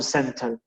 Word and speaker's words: center: cer uno de un Center la t no se pronuncia pasa mucho sobre todo en las palabras con nt en inglés esta fórmula también servirá